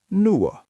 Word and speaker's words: nuo: And to make that into those, it becomes nuo.